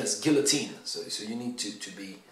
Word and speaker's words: guillotine: word because of course it's borrowed from the French but in borrowing it from the French the English have changed its pronunciation because English people don't